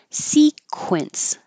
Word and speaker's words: sequence: words that we had sequence remember to round your lips sequence sequential sequential sequent